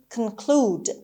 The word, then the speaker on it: conclude: documents next word is conclude conclude conclude the stress is on second c second syllable conclude and who here is